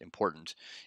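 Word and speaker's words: !important: one it's called important it's got an exclamation point the beginning but just pronounced important and this is something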